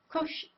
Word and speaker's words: crochet: She says crochet. She puts a kind of an emphasis on the first part of the word crochet.